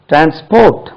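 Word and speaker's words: transport: transmitting right then comes ட்ரான்ஸ்போர்ட் உச்சரிப்பு கவனிங்க ட்ரான்ஸ்போர்ட் second syllable தான் ட்ரான்ஸ்போர்ட் பண்ணி பண்ணிட்டு இருக்காங்க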